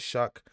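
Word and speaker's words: Shough: I don't know how that's pronounced Shuck, but it is Shuck.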